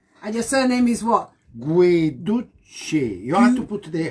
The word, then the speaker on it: Guiducci: And he said I pronounced his name right. Hear me. It is, say it again. Guiducci. Yeah. And I have to say it with chest. Guiducci.